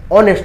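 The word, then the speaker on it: honest: में क्या बोलते हैं ऑनेस्ट बोलते हैं क्या बोलते हैं ऑनेस्ट नेस्ट मत पढ़िए ग ओ एच इंग्लिश में साइलेंट होता है ऑनेस्ट पढ़ते हैं तो ऑनेस्ट में ओ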